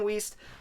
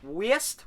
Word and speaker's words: Wiest: hackman nathan lane diane wiest west west i always not sure how to pronounce that it's w-i-e-s-t whist either way it's the